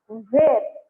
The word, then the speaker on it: were: ಈ were ಅನ್ನೋ pronunciation where ಅನ್ನೋ ಕಾಮನ್ ಆಗಿ ಬಂದದ. To sense or to give a little differentiation, WHERE, where ಅಲ್ಲಿ ಹ ಉಚ್ಚಾರ ಹಾಕ್ತೀವಿ, ಇಲ್ಲೇ were ಅಂತೀವಿ. ಹೌದಾ?